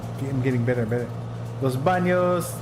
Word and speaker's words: Los Banos: yes yes yes uh Los Banos pronounced Los Los BOS okay Los BOS like the bathrooms in Spanish my Spanish is terrible